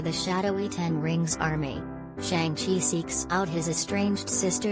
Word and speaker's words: Shang-Chi: To get it back, Sean flies off to China with Katie in tow, revealing to her that his real name's actually Shang-Chi, pronounced like Sean with an extra G, and he was raised